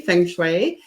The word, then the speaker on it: feng shui: pronounced many ways and uh thank you for pronouncing it correctly feng shui um really it's very very simple it's it's